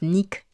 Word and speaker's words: Nike: prononce dibli c'est comme Nike nonous on dit Nike alors qu'en réalité ça se prononce Nick ouais pour ce qui sa pas je ferme